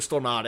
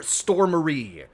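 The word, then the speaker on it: Stormare: mind it sounds like it only minds when people call him Peter stor Marie which which he said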